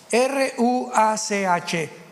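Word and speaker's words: רוח: Apunten todos ustedes, los que les interesa en su Biblia la palabra espíritu, que es la palabra se escribe ruash. R u a c h.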